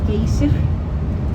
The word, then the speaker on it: Geysir: Maybe you pronounce it Geysir or Geyser, but we pronounce it Geysir.